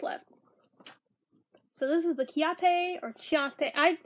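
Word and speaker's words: Ciaté: So this is the Chiate, I don't know how to pronounce it. I pronounce it Chiate, but it may be Ciate or Chiate, London, Glow 2 Highlighter in Moondust.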